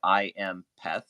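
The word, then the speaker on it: IAMPETH: anybody's interested it's it's it reads like I am peth like p-e-t-h so i a m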